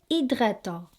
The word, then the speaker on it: hydratants: Les hydratants, not hydratant. So silent H.